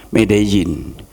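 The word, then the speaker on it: Medellín: International festival reading di medjin tulisan medelin bacanya medjin Colombia Amerika Latin saya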